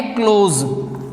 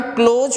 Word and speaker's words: clause: Second one अपने पास में है क्लोज, CLAUSE, क्लोज। ध्यान रखें इसका उच्चारण क्लोज होगा न कि क्लाज, जिसे हिंदी में हम कहते हैं उपवाक्य।